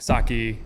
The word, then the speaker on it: sake: It's funny in the south like I mean it's pretty common like saki sake. Yeah. Or but I mean it's pronounced sake but I'm not gonna be you're not going to be thrown out.